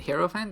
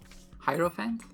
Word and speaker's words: Hierophant: to give you the hero fans i mean hierophant that's how you pronounce it thank you it felt